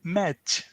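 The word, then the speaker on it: megy: in Hungarian is pronounced Med and that gy is a little funny we call it a soft J so a soft J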